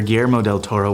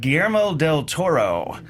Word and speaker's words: Guillermo del Toro: Acclaimed Mexican writer director GMO del Toro was already an established filmmaker by the time he released Pan's Labyrinth in 2006.